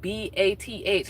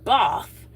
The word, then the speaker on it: Bath: And Both is spelled B A T H like Bath, but it's Both.